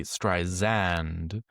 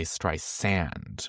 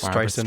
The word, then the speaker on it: Streisand: as to not say Streisand, but to say Streisand with an S. With an S. As opposed to a Z. It's Streisand with an S. Streisand.